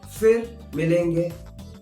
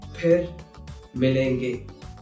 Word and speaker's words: फिर मिलेंगे: So, most of the times, people will use f instead of its right pronunciation, which is ph. So, if you hear someone saying fir milenge, that is incorrect.